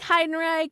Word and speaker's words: Heidenreich: Anyway, ladies and gentlemen, I would like to introduce to you Heidenreich from Wisconsin.